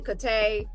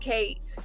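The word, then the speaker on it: Cate: well not Katie but Kate uh it depends on how you want to pronounce the person's name is c a t e so some people say kay some people say Kate and um yes it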